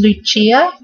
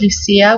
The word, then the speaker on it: Lucia: really like this one as well it is Lucia but definitely in the US it would get pronounced Lucia which is beautiful as well and it's Latin